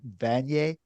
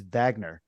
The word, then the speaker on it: Vaigneur: assume in Canada a lot of people would pronounce her name van but it's not pronounced that way right it's Vagner Dr Vagner yes Dr Vagner okay okay just